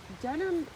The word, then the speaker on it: Dedham: If you're ever in the Boston area, Dedham, this is Dedham, Dedham, not Dedham, Dedham. It's pronounced Dedham, but it's spelled Dedham.